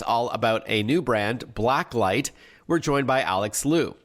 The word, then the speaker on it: BlackLyte: For those unfamiliar with BlackLyte, and we should tell our listeners it's one word, and light is spelled L-Y-T-E, so it's all in capitals, BlackLyte.